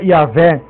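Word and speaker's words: Ιαβε: ou pronuncia-se o e Teodoreto escreveu iabe que se pronuncia yavé pois em grego yavé que eu digo i a v e pois em grego a letra B se pronuncia v a letra Hebraica vave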